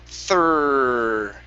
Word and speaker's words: third: just the thr okay this is thir thir and hold on to that r try that thur okay almost almost so yeah remember keep the tongue down okay here we go uh-huh almost okay one more time third ah okay all